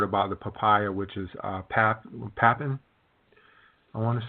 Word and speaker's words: papain: Bromelain, and then later on I heard about the papaya, which is papain, I want to say. Oh, papain. Yes. Papain. My pronunciation was off, but I'm understanding that there are several different kinds of enzymes.